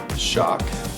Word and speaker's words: Schoch: So my name is Shock. And I'll spell that D A N I E L and the last name is S C H O C H.